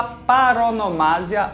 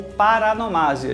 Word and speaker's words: paronomásia: Ainda nas figuras de som, temos a paronomásia ou paranomásia. As duas formas são corretas.